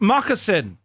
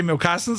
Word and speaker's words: moccasin: It's pronounced moccasin like what h Eskimos wear. That's what I said. I didn't say mcastins. I said moccasins. Yeah, that's exactly what I SAID.